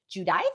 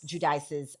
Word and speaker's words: Giudice: Um we have um and I you have to correct my pronunciation. I know it's Teresa. Is it Judice? Judice.